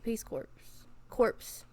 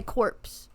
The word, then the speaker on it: Peace Corps: No, they spell it, the P is silent. And it pisses me off. Yes, because I want to say corpse.